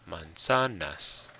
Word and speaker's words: manzanas: Manzanas. It's on the sa. Manzanas.